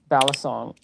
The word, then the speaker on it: balisong: It was a comb and a fork balisong that's how you say it.